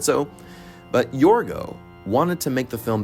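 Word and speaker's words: Yorgos: Cinema should be nowadays absolutely creative and inventive yorgo which apparently that's how you pronounce his name Emma Stone said so but yorgo wanted to make the film back in 2009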